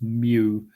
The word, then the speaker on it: mu: It's a Greek letter, and it's pronounced mu.